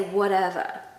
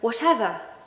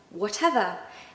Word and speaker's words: whatever: So, if I was American, I'd say whatever. Whatever. But I'm not. I'm British. And we do pronounce the T, especially when there's two T's. Okay, definitely when there's two T's. But here in whatever, we're going to say that T quite sort of obviously. So whatever. Whatever.